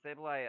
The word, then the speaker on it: Sableye: Is that how it's pronounced? Yeah. Sableye.